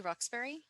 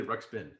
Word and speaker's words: Ruxpin: see, I thought it reminded me of Teddy Ruxbury. Ruxpin. Oh. Yeah. You're thinking of the Roxbury and Teddy, although that's a different movie. Wait, am I saying the name wrong? Yeah, it's Teddy Ruxpin.